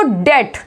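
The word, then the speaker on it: debt: Next देखो डेट, इसमें B silent है, इसको हम क्या बोलते हैं, डेट बोलते हैं।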